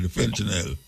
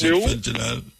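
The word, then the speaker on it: fentanyl: fentinel have up there fentinel that's how you pronounce fentinel fentinel man fentinel yes you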